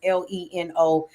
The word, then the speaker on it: Lenoble: But make sure you follow Tom Lenoble. That's Lenoble, just like it's spelled on the screen, so you can connect with him.